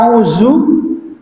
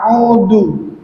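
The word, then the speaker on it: أعوذ: Kalau kita bacanya auzu atau auudu, ya, ketika lidahnya tidak dikeluarkan maka keluar huruf dal. Audu. Ya, tapi kalau misalkan lidahnya kita keluarkan, maka akan keluar ya.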